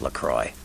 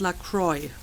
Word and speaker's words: LaCroix: Well, so apparently the prince's name is pronounced Lacroix. I think that's the first time they actually spoke his name. I always went for like a more French pronunciation, Lacroix, but I guess it's Lacroix.